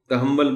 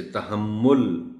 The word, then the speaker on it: تحمل: ہے، شکر نہیں ہے۔ تحمل، تحمل بول دیا جاتا ہے، اسے تحمل بولنا ہے۔ یہ شکر علیحدہ